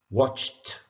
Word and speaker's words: watched: How is the ed pronounced in the following words? Is it t, d, or id? Watched. Ch, voiceless. Started.